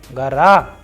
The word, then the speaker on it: гора: For example, in the feminine gender words we have gara, naga, whereas we have vowel o after letter g, r and a. So the pronunciation is coming as gara.